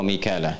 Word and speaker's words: Mikal: Kan kemudian sampai ketemu kalimat wa Jibril wa Mikala. Jibril dengan Mikal. Mikal itu riwayat Hafiz dari Asim. Di riwayat Qalun, kemudian Warash dari Nafi' dibacanya Mikail. Ya, makanya kita bisa baca dengan Mikal ya atau Mikail.